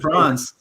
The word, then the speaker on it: Franz: Franz and Franz.